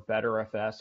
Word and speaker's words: BTRFS: So BTRFS or BTRFS or BetterFS, however you wanna pronounce it, is the new default file system for desktop operating systems in Fedora 33 going forward.